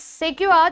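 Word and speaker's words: sequoia: second रुको मैं हमेशा कंफ्यूज हो जाती इसको प्रोनाउंस करते समय सेकुआ जो होता है यस सेकवा जो होता है जिसको कहते हैं रेड वुड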